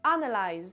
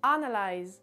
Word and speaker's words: analyze: Donc le premier mot c'est analyze, analyze, analyze. Donc l'accentuation se fait sur la première syllabe, sur le A, et tout le reste ce sont des syllabes qu'on entend un petit peu moins, donc analyze, analyze.